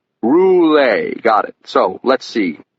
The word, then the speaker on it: Roulet: Okay, so we're here to talk about Louisis Roulette, aren't we? It's pronounced Roule. Roule?